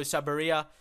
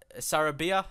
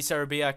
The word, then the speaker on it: Sarabia: And also Pablo Sabaria. Sarabia, that's how we pronounce, I think.